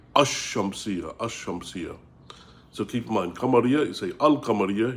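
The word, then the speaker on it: الشمسية: And they call that shamsia because you say ashamsia. Ashamsia. So keep in mind, you say, you don't say, and you don't say alamsia, you say ashamsia.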